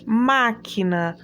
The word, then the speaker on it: máquina: Máquina. Máquina, o acento já vem bem na frente, é a antepenúltima sílaba e ela é uma proparoxítona.